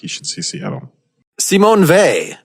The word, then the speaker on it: Simone Weil: you should see Seattle Samoan vay which I realized that was the pronunciation or at least a pronunciation upon watching the documentary an encounter with C Mon vay but I think for Americans while wheel now let's say they just because I looked at a bunch of stuff online and every lecture podcast you can find they pronounce it as fait I don't simony Vey